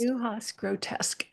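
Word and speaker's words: Neue Haas Grotesk: Yes, I think it's Neuhaus grotesque. That's how I say it, at least. Neuhaus grotesque. Okay. That's correct.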